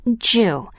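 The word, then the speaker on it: 十: 10 is considered a good number in Japan because it is pronounced ju, like the Japanese word for enough.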